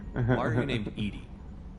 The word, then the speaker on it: EDI: are her named Edie Edie is the phonetic pronunciation of EDI that is an acronym